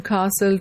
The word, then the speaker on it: castle: T is not pronounced in Castle T is not pronounced again in T is